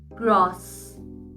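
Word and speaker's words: groß: Next, the beta symbol is called as asset and it is pronounced as double S. Example, gross, which means big.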